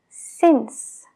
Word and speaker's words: since: en inglés que sería since desde es since si ya conoces la palabra sin que es pecado sin es pecado simplemente añádele una s y así se pronunciaría desde since entonces tenemos Science y